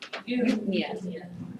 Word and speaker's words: Eupnea: EU is pronounced U. Eupnea.